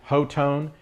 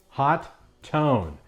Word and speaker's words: Hotone: tone website it does say how do I pronounce hot tone is it ho tone is it hot one or is it hot tone and it is pronounced hot tone so there you have it boys and girls